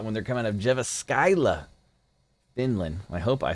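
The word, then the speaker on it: Jyväskylä: you enjoyed that when they're coming out of jeva skyla finland i hope i said that right if not it should be pronounced jeff scala because that sounds bad um nemechek uh guys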